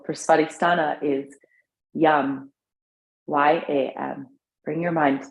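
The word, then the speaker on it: yam: baristana at the tip of the tailbone seed syllable for spotistana is yum y-a-m bring your mind to there inhale yum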